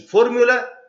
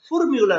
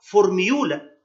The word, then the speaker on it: formula: فورمولا يعني تركيبة، يبقى هاي بوتنسي فورمولا تركيبة في منتهى القوة. وبالنسبة للفورمولا، فورمولا تنطق فورمولا لا تنطق فورميولا، احنا مش قاعدين هنا في الغيط بنجرس جلة، لا ما اسمهاش فورميولا، اسمها فورمولا. repeat after me 3 times formula formula formula.